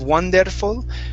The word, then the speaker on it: wonderful: Okay, so instead of wonderful, okay, watch your tongue here, don't roll your R. Okay, so it's wonderful.